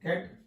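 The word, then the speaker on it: catechol: है, that is कैटकोल, आपको याद रखना है कैटकोल, इसको बोलते हैं कैटकोल, ठीक है, H is silent over there बेटा।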